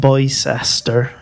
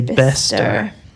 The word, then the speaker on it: Bicester: Not Bicester. We say Bester.